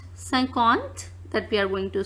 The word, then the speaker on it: cinquante: 51, as 50 is pronounced cinquante, that we are going to see.